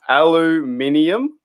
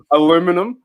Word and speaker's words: aluminium: i'll try my best and i think we pronounce it differently in australia anyway uh aluminium have you heard of that that's the one do you mean yeah aluminum well here's the debate right aluminium or aluminum